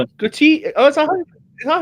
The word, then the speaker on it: Kouyaté: But that's that's an English way. This is with a rolling tongue and a Like angry people with a bit of tin of prostitute in it.